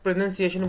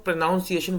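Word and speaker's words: pronunciation: automatic ठीक हो जाएंगे जैसे मैं प्रोनंसिएशन बोला मैं पहले इसको प्रोनाउंसिएशन बोलता था नाउन के चक्कर में ओ यू एल मैं लगा दिया करता था वो मेरा गलत हो करता था हमेशा इसीलिए आपको अपनी वोकैब के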